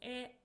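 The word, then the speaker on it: へ: Particle E. So this is a direction particle. It is pronounced as E but we write it as hiragana he indicates direction towards where we are heading.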